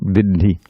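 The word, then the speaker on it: viddhi: Yeah, the first syllable is heavy. It's a quarter note. It's not an eighth note. Vidhi.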